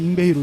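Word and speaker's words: Yngwie: 그 속주 기타리스트인데 뭐 그 당시엔 또 잉위 맘스틴이라고 했어요. 맞아요. 그러다가 이제 좀 이제 발음이 바뀌면서 네. 잉베이로 이제 다시 통일이 됐죠.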